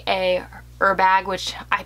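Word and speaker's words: Herbag: i would like a er bag which i pronounce it her bag but i know you don't pronounce the h um 31 zip i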